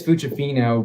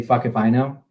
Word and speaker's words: Fucifino: Cassandra Fucifino, which I was like, in Italian it's Fucifino, but it's actually fuck if I know.